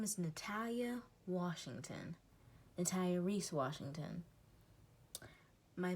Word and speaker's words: Natalia: My name is Natalia Washington. Natalia Reese Washington. My mom named my first name Natalia, which is Natalia. Not an E at the end. It isn't Natalie, it's Natalia.